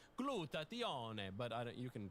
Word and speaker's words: glutathione: I pronounce it the Italian way, glutathione, but you can pronounce it however you want.